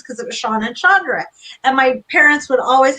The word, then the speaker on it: Chandra: So when I was little, people didn't ever say Chandra correctly and they mispronounced it.